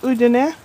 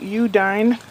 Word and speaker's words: Udine: When I was in North Italy, near Udine, and most Americans call it Udine, because that's the way it's spelled, up in the Dolomiti,